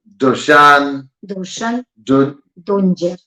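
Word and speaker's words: Dušan Dunđer: So, I want to make sure I say his name right. Samo da proverim. Dushan Dунđer. Dунđer, okay?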